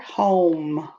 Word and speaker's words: home: home o m h-o-m-e-h-o-m-e the e is silent i'm going to stretch it out om shrink it home um shrink it home i'm gonna say the individual sounds um slide them together home 14 something that makes